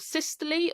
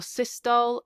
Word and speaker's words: systole: how you pronounce it, atrial systole or systole, and ventricular systole or systole. Different people pronounce it different ways, but it means the same thing.